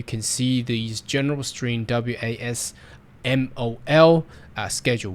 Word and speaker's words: WASMOL: Okay, so the Western Australia skill migration occupation list, WASMOL, it's very hard to pronounce it, but anyway, WASMOL is how they like their occupation list to be called, which lists occupation available